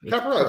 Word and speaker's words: Capper: Capper or Capar? Right. Capper. Really? Okay, it's Capper.